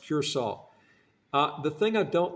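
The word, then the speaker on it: Curaçao: it funny c r a CAO but it's pronounced curol uh the thing I don't like about Cura it's a beautiful place man I tell you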